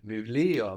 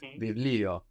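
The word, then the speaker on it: βιβλίο: to Bible very good VI Leo very good it's written with the V that looks like a b but we pronounce a v there no V Leo very good the book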